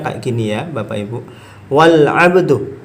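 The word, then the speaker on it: وَالْعَبْدُ: Wal abdu, bukan wa al abdu, wal abdu. Tidak dibaca.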